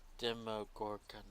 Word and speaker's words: Demogorgon: I think you're mispronouncing it. It's Demogorgon.